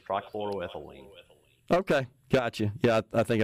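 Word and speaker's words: trichloroethylene: technical uh names but tce triclo ethine I can't say it say it for me you got close you got close Tri chloroethylene okay gotcha yeah I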